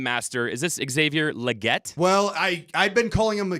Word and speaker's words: Legette: It's actually Xavier Legette. Xavier Legette. So there's a French, Cajun, Creole, whatever.